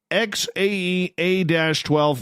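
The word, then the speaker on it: X Æ A-12: And then the AE is pronounced like Ash.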